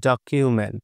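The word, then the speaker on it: document: এর মত করে করব যেমন ডি ও সি ইউ এম ই এন টি খেয়াল করেন তো ও রয়েছে তাহলে এই যে এ তারপর রয়েছে কি কনসোনেন্ট সি তারপর রয়েছে ই তারপর কনসোনেন্ট হচ্ছে এম তারপর এই যে এখানে এ আই এর কি রয়েছে ই রয়েছে তাহলে আমাদের এই ইউ এর উচ্চারণ কি করতে হবে ইউ এর মত তাই না এজন্যই হয়ে গেছে ডকিউমেন্ট তারপরে কি রয়েছে প্রকিউরমেন্ট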